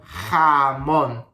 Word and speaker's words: jamón: Remember, these sounds come from your throat, so every time you want to pronounce a J in Spanish, you have to say ha, ha, ha. For example, jamón, jamón, jamón.